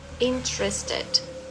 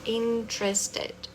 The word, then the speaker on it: interested: Perceba que essa sílaba aqui ela, né, se encurtou. Interested. Interested. Interesting.